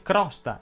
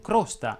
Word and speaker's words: crosta: ti dico anche che si dice crosta e non crosta e anche solfa e